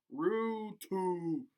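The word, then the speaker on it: Ruuttu: 990 the Finnish born playmakers last name is pronounced room - there you go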